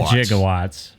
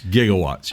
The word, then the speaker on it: gigawatts: He just needed a nuclear reaction to generate he said it wrong. It was 1.21 gigawatts. He said gigawatts, right? Right. It's gigawatts.